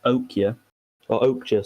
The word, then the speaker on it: Okja: It's the Netflix original Okja, sorry. I forgot they pronounced the J.